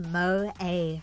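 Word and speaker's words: 萌え: of girl it's called Mo pronounced Mo a with a long o followed by a long a yeah I I would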